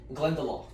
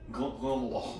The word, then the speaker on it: Glendalough: Glendalough. Glendalough.